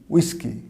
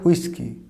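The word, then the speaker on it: whisky: এর যেহেতু হুইসেলের মতোই, ব্রিটিশের এটার কী উচ্চারণ করবে? হু না, উইস্কি, উইস্কি। এবং আমেরিকান এটা উচ্চারণ করে হুইস্কি, উইস্কি এবং হুইস্কি।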